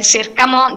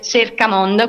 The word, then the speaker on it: Cercamondo: Si scrive Cercamondo, si scrive Cercamondo, si legge Cercamondo, quindi ci trovate con la C.